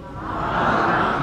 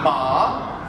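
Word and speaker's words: 马: Come si pronuncia? Ma. Ma, vedete? Scende e sale.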